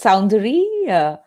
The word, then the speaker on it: Soundari: Is it Sundari? Yeah, it is. It's Soundari.